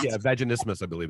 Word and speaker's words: vaginismus: I can't pronounce it. Vaginismus, I believe it's called.